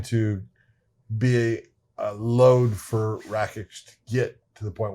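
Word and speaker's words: Rakić: Rakic. Rakic.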